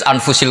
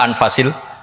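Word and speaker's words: أَنْفَس: Di sini ditulis anfusil kutub. Kalau saya baca anfasil kutub karena maknanya kitab ter baik. Kalau kitab terbaik bacanya bukan anfus tapi apa? Anfas.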